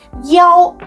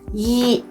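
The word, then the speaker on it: 幺: read digital pathogens and the number one in a phone number is pronounced as yo instead of Yi besides in Chinese numbers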